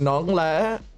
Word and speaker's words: nón: is Nong Nong see I pronounce it like that as well but remember it's non not Nong BR I'm old as